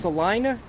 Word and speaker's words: Salina: Oh, it's pronounced Salina.